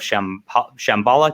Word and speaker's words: Shambhala: 1866, stricken by an insidious curse, 3 outrageous egos race to unearth the mythical lost city of Shambhala. Did I pronounce that right?